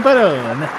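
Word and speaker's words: Perron: uh it's a and I believe it's pronounced a parin family another negative two for Drew what I didn't even hear what he said I went to with Joey Peron it's spelled the same it's Joey Peron he got the Gaba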